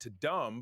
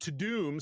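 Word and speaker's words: Tudum: I'm like, oh, we missed I called it To Dumb, but when I started to watch it, it's probably didn't want people to calling it dumb. It's pronounced To Doom, so it was Netflix To Doom event.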